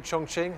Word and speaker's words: Chongqing: Chinese journalists here just tell me did I pronounce that okay Chongqing it's good thank you very much they've said